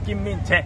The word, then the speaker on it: Kim Min-jae: Si pronuncia così? Kim Min-jae. Kim Min-jae. Sì.